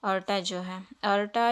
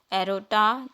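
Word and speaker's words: aorta: एरोटा जो है सबसे लार्जेस्ट और लॉन्गेस्ट जो है आर्टरी होता है ये ऑर्टा या फिर ओल्टा, एरोटा, ऐसे दोनों टाइप से इसको प्रोनाउंस किया जा सकता है, ठीक है।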